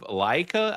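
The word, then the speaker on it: Laika: But the interesting thing about Travis Knight is that this dude is the guy that is the CEO of Leica, I think is how you say the name of the company, but it's the guys that do the stop motion movies.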